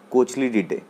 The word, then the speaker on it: Cochlididae: ठीक है, इसका जो थर्ड फैमिली है वो है कोचली डीडे। ठीक है, कोचली डीडे स्पेलिंग है COCHLIDIDAE।